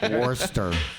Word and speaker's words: Worcester: Yeah, well, it's because you say it like that, you know? It's like if you said it the wrong way, everyone would know what you were talking about. You know? Right, exactly. Worcester. That tracks. It actually hurts to pronounce those R's.